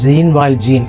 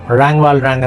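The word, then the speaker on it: Jean Valjean: അന്ന് ഇദ്ദേഹത്തിൻ്റെ പേര് ജീൻ വാൽജീൻ എന്നാണ് പറഞ്ഞത്. പക്ഷെ പിന്നീട് ഫ്രഞ്ച് പേരാണ്. അതിൻ്റെ ശരിയായ ഉച്ചാരണം റാങ് വാൽറാങ് എന്നാണ് മനസ്സിലാക്കി.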